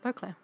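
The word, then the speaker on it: Beauclair: the duchy beau claire is that the right pronunciation yeah beaucler is an architectural gem full of glorious alvin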